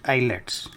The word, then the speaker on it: IELTS: pass an exam called IELTS pronounced islets with at least a minimum score so how had these students passed their eyelets exams I made some